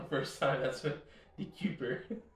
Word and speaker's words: DeKuyper: Dude, I think you just like pronounced it right on the first time. That's what Dekuyper.